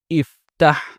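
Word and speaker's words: افتح: This has fatha on its middle radical. So when we make its imperative, its hamza al-wasl will be pronounced with a kasrah. So it becomes iftah, meaning open.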